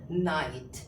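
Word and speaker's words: knight: हम लिखते हैं के एन आई जी एच टी तो इसे हम लोग क्या पढ़ेंगे नाइट क्या पढ़ेंगे नाइट यानी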